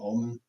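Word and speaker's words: Ohlman: I can't pronounce the name of the town, but O H L M A N, O Olin.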